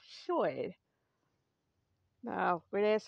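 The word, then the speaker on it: Llwyd: name short you might see it anglicized as Lloyd but it's pronounced Choi now we're going to ask some questions here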